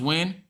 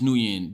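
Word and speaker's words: Nguyen: It's pronounced win. Did he tell you that? because I I struggle to believe that this is when my whole life I've been calling this new yen.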